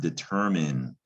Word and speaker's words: determine: from the root word determine not to be confused with detriment determin is tricky enough by itself because that i n e looks like it should say mine at the end but it's pronounced the